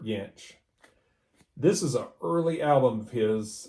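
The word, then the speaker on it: Jansch: to be bert yanch some people say janch but uh i think it's pronounced burt yanch this is a early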